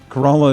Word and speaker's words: Corolla: Corolla is how it's said in North Carolina.